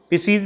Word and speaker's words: Pisces: Super class, पहली जो super class है वो पिसीज की है। पहली जो सुपर क्लास है वो क्या है, पिसीज। First पिसीज। पिसीज means जितनी भी मछलियां हैं, PISCES, पिसीज।